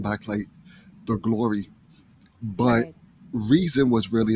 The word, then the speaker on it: Reson: up with reason because my middle name has a long e sound so the r-e-s-o-n you know without the a you know people say present but it's a long e so it's reason and then the one